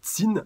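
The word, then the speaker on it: Qin: Alors déjà, je voulais commencer par le commentaire de Ami, donc sur King Odamu, qui m'a dit, pour info, on ne dit pas Kin, mais Tsin. Le i se prononce, hein, donc voilà, pas de sein, pas de choix, un truc comme ça.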